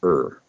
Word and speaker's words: err: I think it's very funny that, you know, a popular adage is to err is human, but it's not err, it's err.